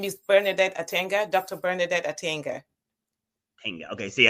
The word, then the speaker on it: Atanga: Yes, you say my name is Bernardet Attanga.